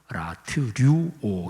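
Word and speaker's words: λατρεύω: 이거는 라트류오, 명사형으로 말하면 라트레이아, 동사형으로는 발음하기가 조금 힘들어요. 라트류오 이렇게 되는데 그냥 명사형으로 예배라는 헬라어 단어가 라트레이아, 이게 바로 예배라는 단어입니다.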